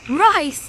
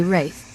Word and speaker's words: wraith: Rice. What the hell does that mean? I should say wraith. Sorry, I'm mispronouncing things.